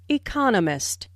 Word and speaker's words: economist: Notice the stress on economist. This content word has new information, so it is emphasized. There are 4 syllables in economist, with the stress on the second syllable, economist. He just finished writing.